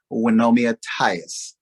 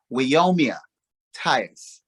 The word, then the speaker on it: Wyomia Tyus: about none other than wenomia tyus um i said her name wrong wyomia tyus right um she now lives